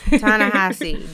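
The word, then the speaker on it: Ta-Nehisi: not the only one t tassi coats is how you say it tanassi definitely not trying to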